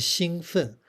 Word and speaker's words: 兴奋: But here it has a different pronunciation. The first tone, 兴, as in, not like the word 兴, fourth tone, in 高兴.